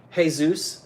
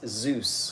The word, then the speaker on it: Zeus: hey Zeus hey Zeus No it's it's Zeus I know I said hey Zeus you said hey Zeus same thing I have to start calling you a grammar snob and a pronunciation it sounded like Jesus like Jesus Rodriguez Rodriguez